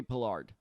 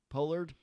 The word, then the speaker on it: Pollard: paid 96 dollars for tony pillard pollard how do you say it it's pollard damn it you keep